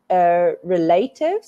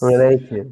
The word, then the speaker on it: relative: You said relatives. Relative. I want you to put the stress on the E.